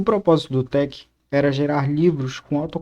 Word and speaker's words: TeX: com muitas notações Matemáticas a palavra Tec deriva das três primeiras letras da palavra tecnologia em grego o sugestão do próprio Donald na a pronúncia deve ser Tec não Tex mais tarde em meados